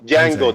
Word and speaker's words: Django: J is silent so Django the D is silent you guys are not